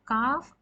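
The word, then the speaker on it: ك: near this is for calf and this is for heavier cough this is the hard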